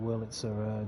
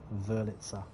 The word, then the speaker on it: Wurlitzer: Actually, I should probably pronounce it Wurlitzer because I presume it's a German word. So the W is probably pronounced with a V sound. Wurlitzer, I'd imagine.